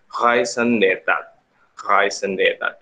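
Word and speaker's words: raison d'état: Kepentingan nasional atau dalam ungkapan Prancis yaitu biasa kita sebut sebagai raison d'etat, ya, memang seperti itu bacanya, adalah tujuan dan ambisi negara, baik ekonomi, militer, ataupun budaya.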